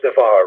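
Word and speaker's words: דבר: it's because what happens is this word is devar right it's the var but in this case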